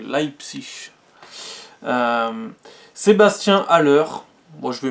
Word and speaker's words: Leipzig: psych l'aï psych attention salma faut bien le prononcer leipzig sébastien haller moi je veux mettre sur les